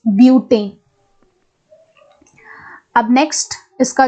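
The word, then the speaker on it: butane: ब्यूटेन आपको pronounce करना है नाम, इट इज नॉट बटेन, इट इज ब्यूटेन।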